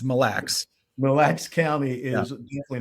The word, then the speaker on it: Mille: It's Mille.